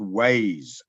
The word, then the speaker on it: Waze: I downloaded a program called Waze. I believe it's called Wazi where you are. It's spelled W-A-Z-E.